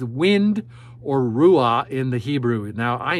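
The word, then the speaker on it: רוח: your body pronounces it Ru you have to actually say the word now you're going to make fun of me in Hebrew you actually it's like a Scottish H you pull that H out in Hebrew R is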